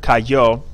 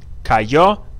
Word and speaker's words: cayó: something like, instead of cayó, we're going to have, I'll do it up here, cayó. That's three syllables in that, cayó.